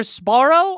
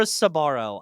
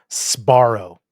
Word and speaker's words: Sbarro: It's either Sbarro or Sabaro. I've heard either one. Okay, Um, because I always thought it was Sparrow. Sbarro.